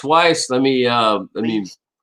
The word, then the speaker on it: Weiss: you for saying that i pronounced lake weiss correctly twice weiss let me uh i